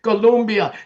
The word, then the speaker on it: Colombia: Look, by the summer of 2026, Italy, Spain, Ireland, Colombia, you got to say it correctly. Colombia, Chile, and Peru.